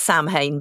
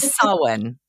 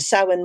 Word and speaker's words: Samhain: Tell us a bit about this festival, which isn't pronounced Samhain, but that's how it's spelt. Is it Samhain? It's pronounced Samhain, yes.